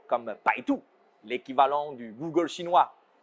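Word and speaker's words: 百度: B comme Baidu, l'équivalent du Google chinois. Bai se prononce comme Bai dans Bye Bye. Et Du se prononce Tu comme l'atout et non pas Du.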